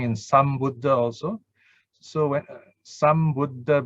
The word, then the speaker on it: Sambuddha: So when Sambuddha, because of Buddha B, start with the B, so the sang becomes sam.